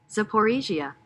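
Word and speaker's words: Zaporizhzhia: Matter of fact, let's get the pronunciation of that word really quick. Zaporizhia.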